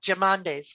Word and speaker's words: Jamnadas: Yeah, Jamnadas.